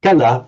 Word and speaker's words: kala: So um remember this word kala with a short a not to be confused with kala meaning time or time in duration. It's like you know bala strength and bala parta time.